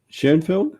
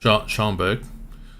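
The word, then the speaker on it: Schoenberg: How do you pronounce it? Schoenfeld? Schomburg. Schomburg. Sorry.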